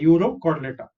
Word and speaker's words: Urochordata: URO is Euro, and next is Chordata, Urochordata.